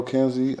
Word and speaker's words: Kynzi: Follow Kynzi.